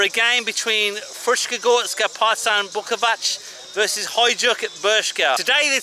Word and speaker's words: Bukovac: Beška, they're in the blue, and Bukovac, that's how you say it, they're in the grey.